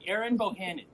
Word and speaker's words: Erin Bohannon: Now tell me if I say it right. Erin Bohannon. Yeah, you nailed it.